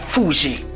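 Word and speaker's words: 藤: Glicine una pianta che in giapponese si pronuncia Fuji che ha una grossa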